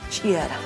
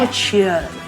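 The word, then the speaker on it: ch'iyara: Chiara. Chiara. Chiara. Chia. Chiara. Chiara. No chiara. Chiara. Chiara. Porque tiene apóstrofe.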